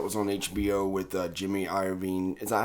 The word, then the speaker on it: Iovine: Have you seen that documentary that was on HBO with Jimmy Iovine? Is that how you say it? Iovine?